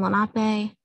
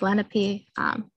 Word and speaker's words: Lenape: on how it's pronounced, but it's Lenni with a long I, and then Lenape. People sometimes try to suggest a Lake Lenape, but that's, again, a different pronunciation. That's not the correct one.